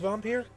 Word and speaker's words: Vampyr: Venus so it is pronounced vampyre I I had heard the developers pronounced it vampire but you know like